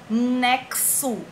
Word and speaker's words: nexo: executar chavan o altar nexo x com som de KS é extensão tem que